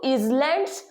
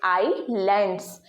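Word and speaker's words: islands: spelling है आइलैंड्स की तो हम इसको इज लैंड्स प्रोनाउंस कर सकते हैं लेकिन यह प्रोनंसिएशन होगा आपका गलत अब आप सोचेंगे कि इज लैंड नहीं होगा तो आप इसको बोल देंगे आइसलैंड बट यह भी होगा आपका गलत ये दोनों ही आपका गलत है बिकॉज आइलैंड्स में ये जो एस है आपका ये साइलेंट है दैट्ची होगा ओनली आईलैंड्स तो हमने इसे एक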